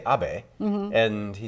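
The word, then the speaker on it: Abe: mean Prime Minister obeys name only has three letters but president Trump always pronounces it differently so he always calls him Prime Minister Abbey and it's kind of funny that this short name it's easy to say a BAE mm-hmm and he says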